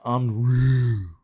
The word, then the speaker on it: en route: Pronounced en route. What? En route.